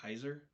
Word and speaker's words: Caesar: into the pizza business did you know Caesar was originally pronounced like Kaiser yeah I've seen that